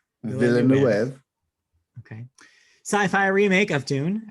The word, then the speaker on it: Villeneuve: How do you pronounce his last name? Villeneuve.